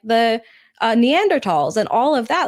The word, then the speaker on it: Neanderthals: cavemen and like, the Neanderthals and all of that. Like, that is our common thread. Neanderthals. Neanderthals. Neanderthal what? Neanderthals. Neanderthals. Yes. That's how you pronounce it. No, the h is silent.